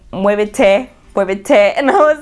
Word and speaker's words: muévete: So tiempo and muévete, like we pronounce because the Spanish alphabet, like when you say the T, we say it says it's A, B, C, whatever. And then when you get to D, it's te. That's how you say it. Te. Not T, it's te.